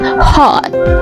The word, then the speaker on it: hot: Bukan O, bukan hot ya. But hot, hot. O, o, ya. Kayak O setengah gitu ya.